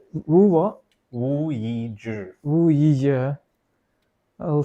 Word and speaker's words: Yizhi: Wu Yizi? Yeah, but it's pronounced Yizhi. No, you're just showing off now. No, but it's true, man. Is it? It is. The Z-E but is all the Zhi.